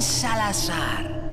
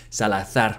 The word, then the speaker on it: Salazar: Me llamo Ramón Salazar. Again, he should have pronounced his name Salazar with a Spanish zeta.